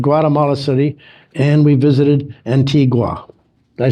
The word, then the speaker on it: Antigua: We visited Guatemala City, and we visited Antigua.